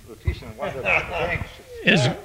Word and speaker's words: lutetium: How do you pronounce that, Jack? Lutetium Lutetium.